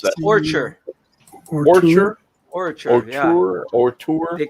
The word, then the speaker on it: ORTUR: How do you pronounce that? Orchard.